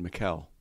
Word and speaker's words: Michael: I actually have my wife and I have a friend from college whose name is spelled that way, but she pronounces it Mikkel.